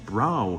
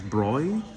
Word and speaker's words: Bräu: the German Way uh and they pronounce the b-a-b-r-a-u as broy as opposed to bro or brow I I've seen a